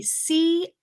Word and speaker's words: quarter: Just a quick pronunciation tip that may be a little easier to say is if it were a Corder, R. Quarter, quarter. We don't have to say quarter, uh, but rather quarter, quarter.